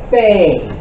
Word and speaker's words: fe: When there is no degesh, the letter is called a fey. Remember this. When there is no degesh, the letter is called a fey.